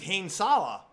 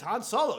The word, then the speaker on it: Han Solo: have then and then i thought the guy's name was hanesala for a long time until someone says han solo you stupid [ __